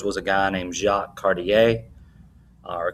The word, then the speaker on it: Cartier: One of their famous explorers was a guy named Jacques Cartier, or Cartier, sometimes that's the way it's pronounced.